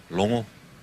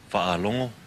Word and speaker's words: Fa'alongo: A lot of people think it's logo, but it's Longo, Fa'alongo.